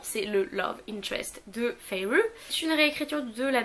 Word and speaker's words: Feyre: Oui, c'est comme ça qu'ils le mettent à la fin qu'il faut le prononcer, donc Feyre, qui est pauvre, qui